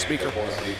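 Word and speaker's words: Spieker: senior and Allison speaker s p i e k r speaker pronounced speaker is a senior uh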